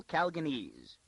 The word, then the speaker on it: Calganese: "Now, why do these terrible Calganese," she accented the second syllable, and gave it a long A, "do like that?